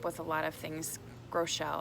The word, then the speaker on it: Groeschel: a lot of things Groeschel I think is actually how you pronounce it he's come up with a